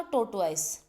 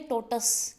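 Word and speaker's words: tortoise: तो इसने क्या देखा, टोर्टवाइस। टोर्टवाइस की जो राइट प्रोनाउंसिएशन वो बनती है टोटस, क्या बनती है जी, टोटस।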